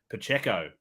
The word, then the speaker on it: Pacheco: early this week but Pacheco is how you say his name this guy I think